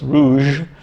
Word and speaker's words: rouge: more french than french the kamai don't generally pronounce the end of words uh the french don't either but if they put an e on the end then they do so that it's o-u-g-e so it's rouge um but in um